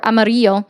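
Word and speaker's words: Amarillo: I have another friend in Amorillo or Amario. It's how it's supposed to be pronounced.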